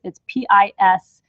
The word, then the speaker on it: Piscis: No, the vesica Pisces is not spelled like sun sign Pisces. It's different. It's Piscis. It's like vesica Pisces almost.